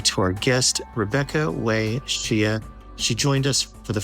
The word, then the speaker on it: Hsieh: show today you can find her at RW Shia and that is spelled h s i e h.